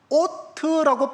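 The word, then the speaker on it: אות: 있게 볼 수는 있어요 그런데이 단어가 뭐냐 오트라고 발음되는 단어입니다 오트라고요 그런데 저 뜻이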